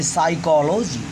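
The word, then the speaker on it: psychology: P और S दोनों consonant है, इसलिए डियर स्टूडेंट्स यहाँ पर P अक्षर साइलेंट रहेगा, अर्थात इस शब्द का प्रोनाउंसिएशन, इस शब्द का उच्चारण हम अगले अक्षर यस से करेंगे। इस तरह इसे पढ़ेंगे साइकोलॉजी।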